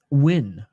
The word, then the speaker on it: Nguyen: It's pronounced Nguyen.